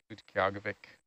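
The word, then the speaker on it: Utqiaġvik: So we were out in Utqiagvik, which used to be Barrow, Alaska, and went out on snow machines. Very good pronunciation, too, by the way.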